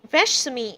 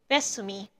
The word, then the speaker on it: Veshsumi: The name remains unchanged in English, Veshsumi, and in modern Greek, Vesumi.